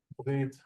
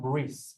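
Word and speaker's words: ברית: Brit. By the way, we see the taf here at the end. This is where the Ashkenazi dialect will become bris or bris. What did we say? Brit.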